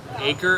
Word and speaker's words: Acre: It's spelled like acre, but they call it Acre.